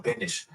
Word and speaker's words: Bendis: He like pronounces his s with sh. He do. Huh? Yeah, he do. Excited. They're really excited. Brian Michael Bendish. Brian Michael Bendish. It's not Bendish. It's Bendis.